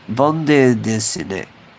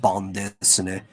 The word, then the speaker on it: bande dessinée: You probably don't even say the E. It's probably just bande dessinée.